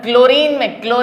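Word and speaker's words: chlorine: तो यहां पे फॉर एग्जांपल अगर हम क्लोरीन में Cl बोलते हैं, H साइलेंट हो जाता है, इसीलिए हमने Cl लिया,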